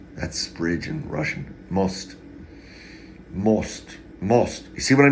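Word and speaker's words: мост: that's bridge in Russian most most you see what I mean about those eight O's and R's most phonetically phonetically Latin m-o-s-t mulch Bridge doesn't look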